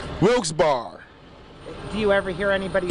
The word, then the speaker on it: Wilkes-Barre: hyphen sounds simple right Wilkes bar do you ever hear anybody say a difference all the time what do they say wilkesbury but the correct way is Wilkes bar bar with two r's Wilkes-Barre Wilkes-Barre Wilkes-Barre wilkesbury